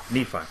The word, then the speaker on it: Nephi: 10:18 this is out of the book of Nephi I'm sorry I got that wrong that's all uh Nephi let me pronounce that first Nephi 10:18 says for he